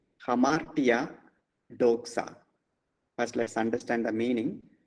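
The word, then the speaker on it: δόξα: So it is KS sound, doxa.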